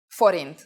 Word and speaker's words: forint: the Forin please pay attention to this word pronunciation Forin let's try to say prices in Hungarian start